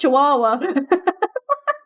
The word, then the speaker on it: Chihuahua: in the small town who believe you pronounce Chihuahua as Chihuahua. And then everybody gets mad if you tell these 100 people, hey, it's pronounced Chihuahua.